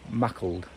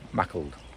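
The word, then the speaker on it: Maughold: might get up to mackled now apparently it's spelled like it's like it should sound like more old but apparently it's pronounced mackled so there you go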